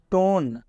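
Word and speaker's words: tone: टोन टोन में ई का उच्चारण बिल्कुल नहीं हो रहा है, क्योंकि जब किसी भी वर्ड के अंत में ई होता है तो इस ई का उच्चारण नहीं किया जाता है, मतलब कि ये ई साइलेंट होता है।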